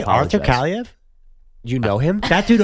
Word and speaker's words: Kaliev: and I also don't know how to pronounce So it. it's not Sean Avery. Arthur Kaliev.